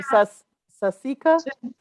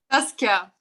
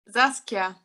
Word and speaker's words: Saskia: How do you say your name? Sasika? Saskia. I'm from Say it. Germany. Oh, beautiful. Say your name one more time. Saskia.